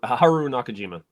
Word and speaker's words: Haru Nakajima: inside the rhan costume suit uh Haru can pronounce his name for me help me out here Haru Haru Nakajima thank you he is also the man inside